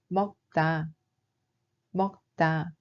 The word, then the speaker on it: 먹다: Il se prononce en réalité comme ‘먹따’.